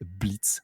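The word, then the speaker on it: Blitzø: euh notamment notre personnage principal de Elov qui s'appelle Blitz, The O is Silent, comme ils disent bien en version originale.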